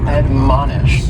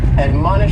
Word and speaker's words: admonish: first word is to admonish and admonish has three syllables and the stress is on that second syllable man admonish and this is a